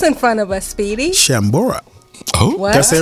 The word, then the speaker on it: Chambord: Shambora. Oh, what? That's it, right? Shamrock. Let's play everybody's favorite game, invent a word. Yes. No, that's it. I did pronounce it right, eh? Chambord, yeah.